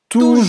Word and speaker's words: toujours: mas tem outro uso toujours. também, viu? Tem Ah, é? outro uso também, mas eu vou dizer depois. Tá. Toujours, sempre. Então não vai falar o S, né? Toujours, não pronuncie um S.